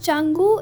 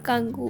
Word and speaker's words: Canggu: और मैंने पूरे वीडियोस पे चंगू को कंगू कहा है। प्लीज इग्नोर दैट बिकॉज़ मुझे स्टार्टिंग में प्रोनाउंसिएशन नहीं पता थी। तो इट्स चंगू इट्स नॉट कंगू।